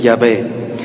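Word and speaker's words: Yahvé: llave y además éste el término de jehová es una mala interpretación que viene a significar ya literalmente jehová destrucción saben como invocan los satánicos y las misas negras al demonio lo pronuncia no lo invocan con el nombre de jehová ese es el nombre e impreciso o incorrecto pero les decía vamos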